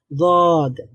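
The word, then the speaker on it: ضاد: উচ্চারিত হয়ে গেছে গদ জিহ্বার একটা সাইড মানে ডান অথবা বাম সাইড এটা আপনি উপরের ডান অথবা বাম পাশের যেই দাঁত আছে সেই দাঁতের গোড়ার সঙ্গে লাগান সবাই আমরা লাগাই জদ আস্তে আস্তে হয়ে যাবে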